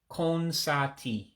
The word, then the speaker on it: konsatị: The I with the dot underneath is a diacritic, we call that. And that gives it a real high E sound.